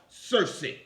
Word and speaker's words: Kirke: There, in its etymology, you will find the word Kirke, sometimes pronounced Circe.